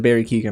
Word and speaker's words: Keoghan: Or is it Barry Keoghan? I'm sorry. I gotta pronounce that properly.